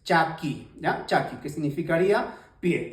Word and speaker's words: chaki: aprendiendo el idioma quechua esta se pronuncia como lo lees Chaki ya Chaki que significaría